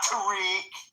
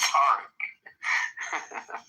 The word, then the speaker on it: Tarek: For those that don't know how to pronounce, it's pronounced Tarek. Perfect. Not Tariq. But he's too polite. It's Tarek.